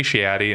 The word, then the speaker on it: Shadi: the funny thing is folks in the Midwest who have like the accent, like, so let me get a salad, like they say it right. So it's like, I love going to like Chicago and Detroit because they're like, hey, Shadi, and I'm like, oh, that's how you say it.